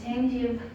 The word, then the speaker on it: gingiva: And periodontics treats the infection in a gingiva.